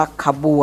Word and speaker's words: ขบวน: ต่อ ไป คำ ว่า ขบวน นะ คะ ตัว นี้ อ่าน เลย นะ คะ ออก เสียง อะ แต่ เวลา เขียน ไม่ ต้อง เขียน สระ อะ นะ คะ ทำ ขบวน นะ ครับ